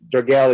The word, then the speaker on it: Dragelj: It's just silent J. Dragelj. It's fine. The Dragelj is good.